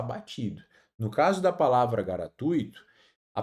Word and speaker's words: gratuito: E gratuito, pessoal. Muito cuidado com essa palavra. Muita gente fala por aí, né? Inclusive celebridades, gratuito. E isso não existe na língua portuguesa, tá?